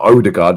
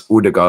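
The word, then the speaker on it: Ødegaard: Oud was telling me, "It's not Odard, it's Udard."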